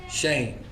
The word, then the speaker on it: Shem: Shame, right? Shame. It's the word shame. Because they like to say Shem, but when you go to the pronunciation, it's actually shame.